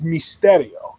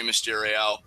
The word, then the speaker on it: Mysterio: Spanish because rather like the proper way to pronounce Rey Mysterio's name in Spanish is Mysterio it's the Y makes an e sound and the E makes